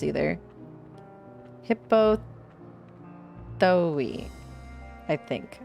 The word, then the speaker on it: Hippothoe: I'm Hippothoe? Thoe? I don't know how to read Greek names either. Hippothoe. I think. I think the E is pronounced, right?